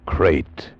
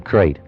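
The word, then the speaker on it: krait: First, the crate. You spell it K-R-A-I-T.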